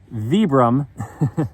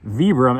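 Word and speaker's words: Vibram: I mean, look at the look at the vebram outsole. Not like I I think I learned how to pronounce that. Vibbram outsole.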